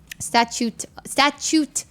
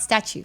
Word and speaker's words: statute: Statute. Not statue. Statute. Wait, is that how you say it?